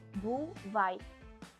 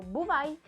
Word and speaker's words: бувай: Decimos en ucraniano бувай. Como buvai.